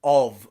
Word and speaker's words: of: only time the letter f is pronounced differently to f is in the word of where it is pronounced as a voiced v sound that's the only word